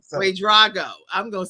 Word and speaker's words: Wade-Drago: going to make sure I say the name, Wade-Drago. Wade-Drago. And it's okay. It's Wade-Drago. I respond to who, I know who you're talking to when you call that name. I know what you're saying. So. Wade-Drago.